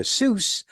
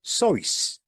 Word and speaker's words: Seuss: Seuss like his surname rhymes with goose, but he pronounced it like it rhymed with voice, like Dr. Seuss.